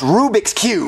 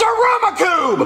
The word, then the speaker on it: Rubik's Cube: saying Rubik's Cube no Aruba Cube Jeffy is pronounced Rubik's Cube no it's Aroma Cube Marvin you know what he means stop agitating him I want him to say it right Rubik's Cube Rubik Cube I'm not gonna buy it for you unless